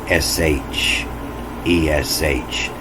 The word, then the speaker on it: shesh: That means it's pronounced S-H, E-S-H, shesh.